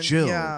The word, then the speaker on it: gill: then they like okay pronounced Jill but they spell it g i l l but okay so here's